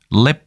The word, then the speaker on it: 𨋢: 글자가 탄생했다고 보시면 됩니다이 글자의 발음은 let 이렇게 됩니다 홍콩 광동어의 성조는 상당히